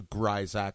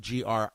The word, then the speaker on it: Grisack: For those of you that do not know the proper way to pronounce my name, Grisack. Even though it's spelled Grisack, the I is long, the S is pronounced as a Z. I have no idea why. I just inherited it. I did not make it up.